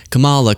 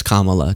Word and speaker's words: Kamala: kind of like when people would just say Camala, Camala, Camala, and you're like, you know, it's Kamala.